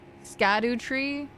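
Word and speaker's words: Scadutree: Scatter tree is pronounced like shadow tree. I hate it here. I like saying scatteru though. Scatter. Yeah. Ever jail. I knew that about jail. Yeah. Shadow tree. Scadoo tree.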